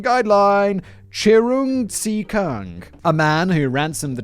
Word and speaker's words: Cheung Tze Keung: i hear you all screaming his name was pronunciation guideline chirung see kung a man who ransomed the children of business